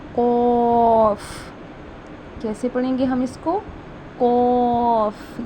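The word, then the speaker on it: ق: उसको हमने सख्त यानी कि जो हमारे तालुक का सख्त हिस्सा है ना उससे अदा करना है। यानी कि इसके इस वर्ड के अंदर सख्ती होनी चाहिए। जब हमने इसको प्रोनाउंस करना है तो ऐसे पढ़ेंगे काफ। काफ। ठीक है? ये देखिए ये राउंड है ना? तो इसको हम ऐसे अदा करेंगे। सॉरी इसको हम अदा करेंगे। कॉफ कॉफ। इसको हम अदा करेंगे काफ।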